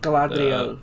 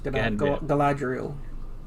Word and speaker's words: Galadriel: Correct me if I'm wrong, but it's Galadriel? Is that how you say her name? Galadriel, yes, Galadriel.